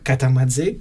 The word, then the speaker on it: Katamadze: So you will pronounce it better than me, Nino. Katamadze. Katamadze.